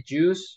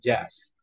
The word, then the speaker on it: just: it isn't it yes we don't say juice remember remember that we never say juice we say just it's like just like an right just